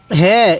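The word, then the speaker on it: هاء: ওয়াও ওয়াও এরপরে বলবেন এই হরফটির নাম কি হ্যাঁ এই হরফটির নাম হলো হা হালকা আওয়াজ করবেন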